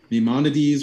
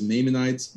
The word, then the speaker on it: Maimonides: uh jewish scholars um maimonides which i've been pronouncing as maymanites this whole time they all agree that